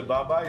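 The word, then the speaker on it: babà: Double B we have we have double the B Baba and then we have the accent on the last a this is so warm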